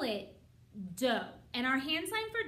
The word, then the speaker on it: do: to learn what it's called we call it dough and our hand sign for dough is fist